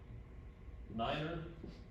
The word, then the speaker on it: niner: Niner, common, you wouldn't say 9, you'd say niner. Why? Because in German, it means something else.